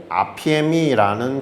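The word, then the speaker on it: ἀφίημι: 더 주목해야 되는 것은 live with로 번역한 동사, 바로 아피에미라는 단어입니다. 아피에미, 우리가 뭐 평생 발음할 일은 거의 없어요.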